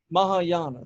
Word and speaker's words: Mahayana: of Buddhism nistic how do you say that Mahayana Mahayana thank you Buddhism Mahayana Buddhism nistic however the